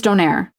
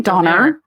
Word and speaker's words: donair: Yeah, I've been told it's donair. Yeah. No. I'm not saying doner. That's wrong.